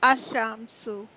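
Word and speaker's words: الشمس: Example, al-shams, the sun, is pronounced ashamsu.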